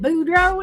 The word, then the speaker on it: Boudreaux: But you got to say it like that. Boudreaux and Thibodeau. Boudreaux.